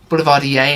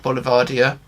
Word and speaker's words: boulevardier: get the boulevardier name obviously boulevardier not boulevardier just in case anyone's worrying about the pronunciation and the boulevardier was